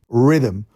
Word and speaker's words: Rithmm: Rhythm is spelled RITHMM. Rhythm.